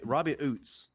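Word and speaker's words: Ouzts: Robbie Oots.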